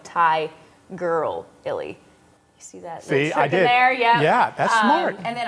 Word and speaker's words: Tigirlily: under at Tiger Lily but Tiger Lily is spelled with all eyes so like Thai girl Illy yeah that's smart and